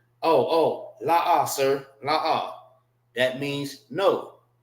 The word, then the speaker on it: La'ah: It's pronounced la and pronounced ah. All right. Just like you have the con is pronounced together. So when you see the happy face, right, which is this, that means it's pronounced together, which is con. Now for this, it's pronounced separate. La, and ah.